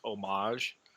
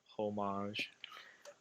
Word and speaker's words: homage: And whoever types on this, I'm gonna correct them and tell them it's homage, not homage.